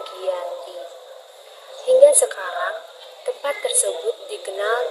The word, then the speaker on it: Giyanti: yaitu di desa Janti dalam pelafalan Belanda ia disebut dengan Yanti namun secara tertulis ia dibaca dengan Giyanti hingga sekarang tempat tersebut